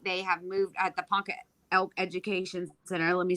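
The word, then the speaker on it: Ponca: uh I think they have moved at the Panka elk education center let me say it right um now they've moved to the farmers market in Panka which is literally just like quarter of a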